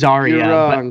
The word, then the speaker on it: Zarya: big news how do you how do you pronounce it I say zah it is zarya yeah I will yeah well I know I'm